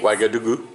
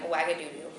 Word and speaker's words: Ouagadougou: On the way to somewhere, our plane landed in, how do you pronounce this place? Ouagadougou.